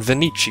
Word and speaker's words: Venetian: that sound i just i like to pronounce it with a soft s kind of sound venee seal i don't know why i guess because it sounds better than venetian well that doesn't really